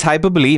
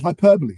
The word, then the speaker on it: hyperbole: AI AI is hyperbole. Making journal abstracts harder. Hyperbol. Okay. So, I I pronounced it I think the American way. I No, it's hyperbole.